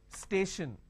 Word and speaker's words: station: an example for example station now when i have station i have stay shin the t i o n basically i can say s h i o n station right so t i